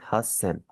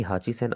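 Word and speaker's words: 八千: 8000 आपका काफी चेंज हो जाएगा, इसे आप पढ़ेंगे हास सेन। कभी भी हाची सेन आप में से नहीं पढ़ना।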